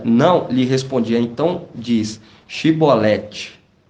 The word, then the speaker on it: Shibolete: Se dizia não, lhe respondia: então diz Shibolete. E ele dizia Sibolete, porque não conseguia pronunciar de outro modo.